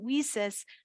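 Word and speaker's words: WiCyS: and we pronounce it whis like we sisters because we are a global cyber Sisterhood and our mission is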